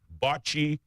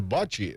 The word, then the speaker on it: bocce: of June, and will feature 5 sports: swimming, bocce, athletics, which include track and field, basketball, and stand-up paddleboarding, which I think is rather interesting.